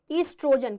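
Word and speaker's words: oestrogen: तो ईस्ट्रोजन, ठीक है, ईस्ट्रोजन, कहीं कहीं ये ऑइस्ट्रोजन ऐसे भी लिखा रहता है जहां पर ओ आपका क्या होता है, साइलेंट होता है, ठीक है, एंड प्रोजेस्टेरॉन, ठीक है।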